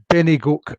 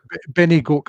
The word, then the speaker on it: Bennygoak: Benny Gok? Benny Goke. I'll spell that for you. It's not a. It's a place name. So there's a poem in the book about this place called Benny Goke. That's spelt Bennygoak. Two words?